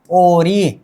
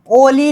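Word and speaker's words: 오리: उच्चारण क्या होनी चाहिए, 9 नंबर का उच्चारण होनी चाहिए ओरी। क्या, ओरी, क्या होगा ओ, र प्लस ई क्या होगा री, क्या होगा ओरी, ओरी, क्या ओरी। अब ऐसा नहीं करना, फिर ओली नहीं करना, ओली।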